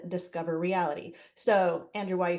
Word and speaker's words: DISCOVreality: that software is called discover reality so Andrew why you say you don't want to butcher it it's spelled a little weird it's Disco V rity so we just wanted